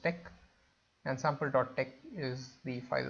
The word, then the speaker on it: TeX: As always, let me just call it sample.tex, and this tex is pronounced tech, and sample.tex is the file that I want to save.